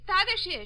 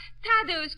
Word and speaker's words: Tadeusz: The name is Tadashish. So, Mama, she's going to make a trouble. Yes, young lady? In Poland, we say his name Tadashish Kosciuszko. But in America, Tadeusz Kosciuszko is fine.